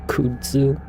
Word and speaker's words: kudzu: I know it's pronounced kudzu or kudzu.